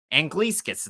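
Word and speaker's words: Anglickas: Paraphrasing what Dana said, but Julius Angliskas, and that's how you pronounce it, Angliskas. It's not spelled like that, but it's Angliskas.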